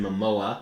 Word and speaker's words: Momoa: Uh Aquaman, who was played by Jason Mimoa. I think that's how it's pronounced.